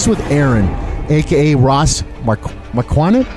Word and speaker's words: Marquand: The true pronunciation is Marquand, which is French, and it's.